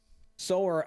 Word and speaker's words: Sower: Or Sower Sisters. I don't know. Sower as in sower of seeds? Yeah.